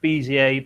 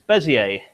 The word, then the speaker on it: Bézier: I think it is meant to be pronounced Bézier, but I'm not a French speaker, so I'm going to refer to it as Bezier.